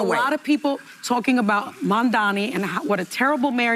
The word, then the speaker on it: Mamdani: I got stomach poisoning trying to take a shot every time someone says Mamdani's last name wrong. You mean Mamdani? Mambabi.